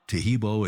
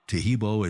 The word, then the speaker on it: Taheebo: Taheebo is spelled T like Tom, A-H-E-E-B like boy, O, then continue with the word tea and then the word club.